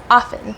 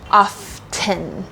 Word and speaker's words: often: a big so often often but the real pronunciation is a little more subtle it's actually often or even often often often and so it's the t is very very subtle it's very small so you do not